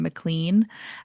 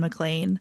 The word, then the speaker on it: MacLean: started reading Sarah MacLean, I would pronounce her name MacLean and then I saw like I she said like I heard her be like, oh it's like John McClane from Die Hard and like that's how I know.